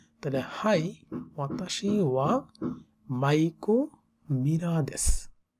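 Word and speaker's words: はい: সো আনাতা ওয়া মাইকো মীরা সান দেশকা high, যেখানে high উচ্চারণটা এরকম হা ই হাই, ওয়াতাশি ওয়া মানে আমি, ওয়াতাশি ওয়া, ওয়াতাশি ওয়া মাইকো মীরা দেশ।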